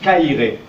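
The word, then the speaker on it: Χαίρε: Et il se prononce Kairé. Le X se prononce K et le P se prononce R.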